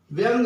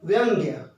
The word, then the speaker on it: व्यंग्य: अच्छा महत्वपूर्ण है क्योंकि इसके उच्चारण में प्राय क्या होता है व्यंग को भी लोग बोलते हैं जबकि व्यंग का अर्थ है विकलांग व्यक्ति है विकलांग और व्यंग्य का अर्थ है - व्यंग व्यंग्य यह देखिए यह धागा है